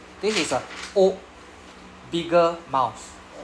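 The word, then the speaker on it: を: Actually 99% of the time it will just be a O.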